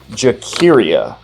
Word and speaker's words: Jakira: And then my favorite was Jakira, pronounced like the singer Shakira, but with a J at the beginning.